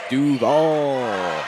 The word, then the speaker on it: Duval: Speaking of Chris Paul, rhymes with Duval right there.